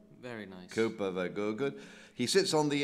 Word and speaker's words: Kópavogur: the town of, now I won't get the pronunciation of this right, Kópavogur. Very nice. Kópavogur, good.